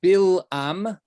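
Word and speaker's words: בלעם: not that similar it's in hebrew it's bill um so it's it's like b i l a m bill um in and ba al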